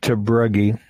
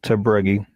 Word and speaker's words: Tabruggy: Tabruggy is how I pronounce it. Yeah, it's pronounced Tabruggy. It's a Dutch name, actually, is what it is.